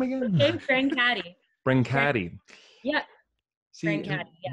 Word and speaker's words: Brancati: We're back with director Sean Cisterna and actress Paula Brancati. Oh my God. How do you say your last name again? Brancati.